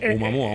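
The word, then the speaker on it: ʻOumuamua: Oumuamua. Oumuamua. Es una palabra hawaiana. Oumuamua. No me sale. Sí, más o menos. No sé cómo se dirá en hawaiano, pero bueno. No, lo hawaiano. estás pronunciando bien. Oumuamua.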